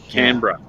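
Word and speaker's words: Canberra: the east coast of Australia CRA it's CRA canra canra canra I thought it I thought it wasb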